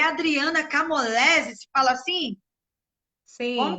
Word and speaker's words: Camolese: É Adriana Camolese, se fala assim? Como Sim, que se pronuncia? é Cam... Camolese, né?